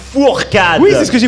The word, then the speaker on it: Fourcade: Non, c'est pas Foulcade, c'est Martin Fourcade.